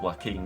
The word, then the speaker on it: Joaquin: Well, that doesn't, I mean, it's pronounced Joaquin, isn't it?